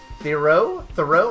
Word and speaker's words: Theroux: The writer is Justin Theroux, I think that's how you pronounce it. Justin Theroux, yeah, you got it.